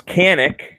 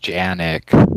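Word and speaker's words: Canik: This Canic. It's pronounced Janik.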